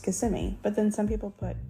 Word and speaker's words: Kissimmee: And I think that it should be pronounced Kissimmee, but then some people say Kissimmee. I say Kissimmee. Like an Italian, come over here and a Kissimmee.